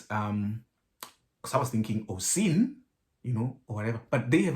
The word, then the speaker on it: Oisín: So that apparently means Oisín, and the other one is Róisín. That's how you pronounce the two.